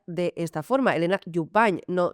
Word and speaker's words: Jubany: Elena Jubany, no Jubany, ¿de acuerdo? Porque en catalán la N y la Y fonéticamente sería la N.